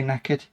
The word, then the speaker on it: knackered: Can we say knackered? With a silent K and get away with it.